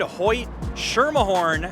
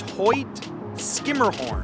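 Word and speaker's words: Hoyt–Schermerhorn: how would you say it if you said Hoy sherah horn you would be incorrect the proper pronunciation is Hoy skimmerhorn and I have even messed that up on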